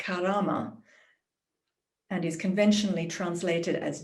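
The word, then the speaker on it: كرامة: outside the english-speaking world the arabic world which i think is pronounced something like karama and is conventionally translated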